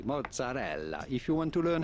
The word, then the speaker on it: mozzarella: You'll be fine in English or American to simply say mozzarella, mozzarella. You do want to insist on the E real strongly, mozzarella.